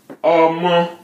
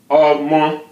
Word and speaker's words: Ọmọ: Ọmọ. Re, no accent. Ọmọ. Re. Ọmọ. Re. That's a child. Ọmọ is child.